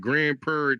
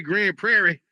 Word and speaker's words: Grand Prairie: Grand Prair, you got to say it like that. You got to say Grand Prairie. See, that's how they know if you're a local. If you if you just say Grand Prairie like a regular person, they be like,